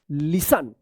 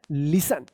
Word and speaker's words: listen: अब देखिए यहाँ पे LISTEN, लिसन, क्या होगा, लिसन, क्योंकि यहाँ पे टी जो है ना साइलेंट रहता है।